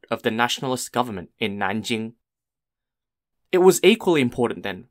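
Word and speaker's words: 南京: it was a gateway to the city of Nanjing n-a-n-j-i-n-g for those of you don't know at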